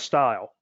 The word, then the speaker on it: STIL: standard test interface language also known and produced or pronounced as style then i'll present a